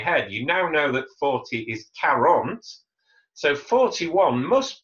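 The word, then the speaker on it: quarante: 40. 40. 40. Répétez. 40. So it's that ca sound at the beginning.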